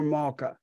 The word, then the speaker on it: Malka: Is it Malka or Malka? How do you pronounce it?